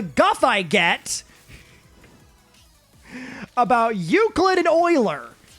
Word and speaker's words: Euler: uh euclid and euler whose names are spelled similarly but pronounced very differently and don't [ __